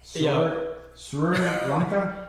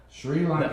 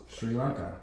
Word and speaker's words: Sri Lanka: Suranka. Yeah, it's S R I. But you say Surri. Yeah. Sri. Yeah. Sri Lanka. That That's the way it's pronounced. Sri Lanka.